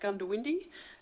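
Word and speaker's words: Goondiwindi: convention will be at Gunda windy this year I'm assured it's pronounced gun to windy uh by by local so I hope that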